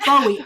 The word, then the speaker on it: Bowie: up david bowie pronouncing his name and he pronounces it bowie and in fact there's an interview he's british